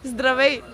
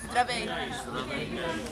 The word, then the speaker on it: Здравей: Zdravei. Здравей.